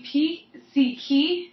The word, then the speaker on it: pizzichi: Mi pizzichi, like that's, you think of pizzi, like Okay. pizzi, like pizza, you know, pizzichi.